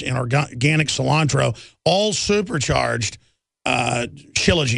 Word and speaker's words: shilajit: Shilajit is the proper way to say it, to absolutely just detox the body.